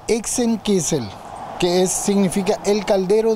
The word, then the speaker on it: Hexenkessel: se ambienti Sí el nombre se dice exen kisel que es significa el